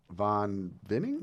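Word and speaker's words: Von Winning: And it's Von Vinning? Von Vinning. See, I was like winning. I'm just simple. Yeah, I'm I like, was pronouncing I'm it kind of Von German. Winning. That works too.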